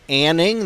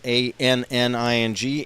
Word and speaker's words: Anning: of all for the Rangers was uh John Anning that's spelled a n n i n g Anning um he scored a power play goal